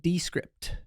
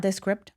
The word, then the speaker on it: Descript: number one is descript I like to pronounce it descript because it's not this script I think it's descript oh okay I think